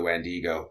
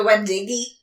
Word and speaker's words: Wendigo: He says it's an a Native American scout told him the story of the Wendigo and the Wendigi.